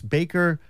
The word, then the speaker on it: Bayker: the note too that it's Baker with a Y ba y k do